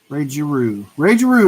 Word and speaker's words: Giroux: Ray Giroux is how we pronounce it.